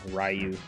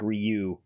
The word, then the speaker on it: Ryu: than me I think the true Japanese French pronunciation is that it's basically one syllable not two syllables like ryu and not ryu yeah that's what i